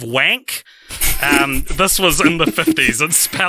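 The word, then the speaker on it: Wankh: He wrote Brainwave, There Will Be Time, but he also wrote a novel called what I can only assume is pronounced The Servants of Wank.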